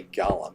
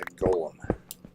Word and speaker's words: golem: or snow or copper is not a gallum. It's a golem. G O L E M. There's only one L, so it makes a long O sound. O, golem. Then there's an E, not a U.